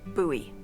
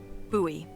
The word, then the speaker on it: Bowie: huge Rusty Bowie knife it's actually pronounced buoy what no it's like the last name like David Bowie different last name buoy are you just messing